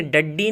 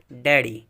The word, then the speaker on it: daddy: طرح اگلا ہے DADDY، اسے ڈڈی نہیں پڑھیں گے، کوئی ڈڈی نہیں بولتا ہے، ڈیڈی، ڈیڈی۔ تو دیکھیے ڈبل ڈی ہے